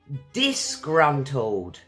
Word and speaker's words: disgruntled: + + disgruntled. It's an adjective Advanced vocabulary of course. I'll help you pronounce it. So let's pronounce, it's got three syllables guys pretty easy + + .